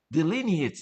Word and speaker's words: delineates: So that's a delin it delineates delineates. That's how you say it.